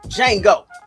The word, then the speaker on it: Django: He spelled out his name and he said that the D is silent.